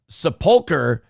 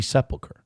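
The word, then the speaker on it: sepulchre: Uh TJ Jeff says, "Sepulkar is the proper pronunciation." Oh we're gonna have a fight. My whole life I've heard uh Church of the Holy Sephiler.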